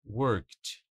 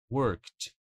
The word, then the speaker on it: worked: Worked. Worked. Bem parecido com stop.